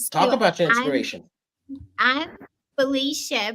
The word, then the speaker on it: Felicia: about your inspiration I'm Felicia pronounced Felicia as Gabrielle said which I love that because that's how they pronounce it in Europe Felicia Andes and um